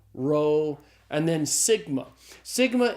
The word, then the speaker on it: sigma: Rho and then Sigma Sigma is the S sound in Greek so Sigma's pronounced like the s in the English word study one of the things